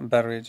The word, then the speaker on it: barrage: Let's now have a look on this tidal barrage or barrage, whatever is the pronunciation. Actually, it's barrage, tidal barrages.